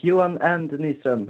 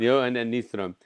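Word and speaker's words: Johan & Nyström: Pronounce that correctly, Johan. Yeah, pretty much. Johan and Nystrom. Johan and Nystrom.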